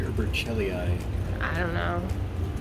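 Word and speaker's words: burchellii: Berchelii or Berchelii? I don't know. I think in Latin, the CH is pronounced like a K.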